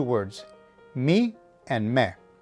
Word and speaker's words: mi: The next item of note are these 2 words, mi and me. Mi is pronounced like the English me and means my.